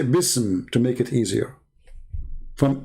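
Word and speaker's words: بسم: Even the Muslims in their dictionary, even in their scholars, they say the word, the letter alif is taken off because it's heavy to pronounce, harder to recite.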